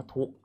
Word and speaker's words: ทุกข์: พูด แนว นอน เนาะ คำ แรก อ่าน ว่า ทุกข์ นะ ครับ สะกด ครับ